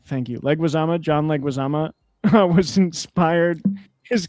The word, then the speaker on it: Leguizamo: How do you pronounce his name? Leguizamo. Thank you. Leguizamo.